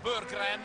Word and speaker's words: Berggren: 17, Limur 2, David Moss 34, Marcus Landry, Marmaglia, Jared Burgren, così ci ha detto ospite a Basketai un paio di settimane fa, si pronuncia il suo nome.